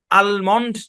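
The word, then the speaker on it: almond: এই কথা বলতে পারি ভাই এ শব্দ আপনি যেভাবে খুশি উচ্চারণ করতে পারবেন আপনি এমন বললেও শুদ্ধ আলমন্ড বললেও শুদ্ধ যদি আমন বলেন তাও শুদ্ধ আর যদি বলে আলমন্ড তাহলেও শুদ্ধ বুঝছেন অনেক মানুষ আছে দেখবেন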